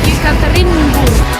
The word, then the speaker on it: Yekaterinburg: As the locals say, Yekaterinburg.